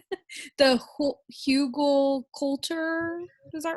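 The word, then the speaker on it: Hügelkultur: Okay, the first one says, I don't know if I don't think I'm going to pronounce this right. The hugelkultur, is that right? Okay. Yeah, hugelkultur, yeah.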